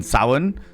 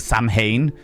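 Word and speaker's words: Samhain: Um, Shandria, you mean sin as opposed to Sam Hane?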